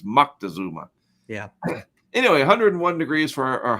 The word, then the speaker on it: Moctezuma: There's no N. It's a C, so it's Moctezuma.